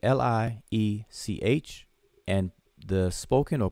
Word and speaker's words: Liech: And if it was written, it would be L-I-E-C-H.